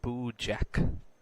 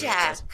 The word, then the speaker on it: Boojak: Edward says it's pronounced Boo Jack for my last name. So everyone knows. Boojak.